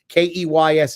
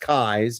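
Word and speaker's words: Keyes: house and for those of you who Wonder Keys is pronounced Kai's not keys but it looks like Beauregard keys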